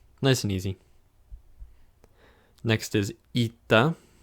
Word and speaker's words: eta: you know what can you do it's called eita next is theta again feet that and this